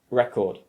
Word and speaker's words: record: the word for example if you say this word record if you put the stress on the first syllable you turn it into a noun and you could be referring to the flat plastic disk that plays music however if you move the stress to the second syllable and you say record